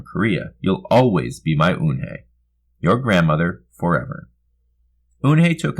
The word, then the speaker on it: Eunhei: Eunhei looked quickly at Mr. Kim and then turned to Joey. She nodded slowly. Yes, it's pronounced Eunhei. It means grace, Mr. Kim added. Eunhei, Joey said slowly this time, perfectly.